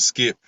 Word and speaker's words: Skypp: he said i go by the name of skip that's spelled s-k-y-p-p i think i fir i wrote